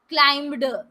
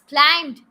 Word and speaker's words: climbed: little that is walked and climbed so people pronounce it as walked climbed why these with the word it is not